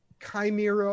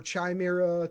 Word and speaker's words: chimera: the time it's like prime chimera or chime era depending on which pronunciation you use timer ism yeah that